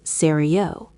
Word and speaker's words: sérieux: For men, the X is silent, but for women, it changes to sérieuse.